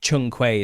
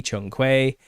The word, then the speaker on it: Zhong Kui: It's called Zhong Kui, I think it's pronounced, if I'm pronouncing this right. Let me have a look. Zhong Kui, yeah. Or in Japanese, it's called Shoki. And I think Chung Kui is another way to pronounce this as well.